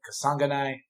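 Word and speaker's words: Kasanganay: versus impa kasanganai um i've been practicing that i wrote it down phonetically and then my mind just went totally it's kasangani um these two guys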